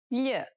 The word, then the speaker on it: gli: Gli. It's a peculiar sound because it sounds somewhat like an English L, but not exactly.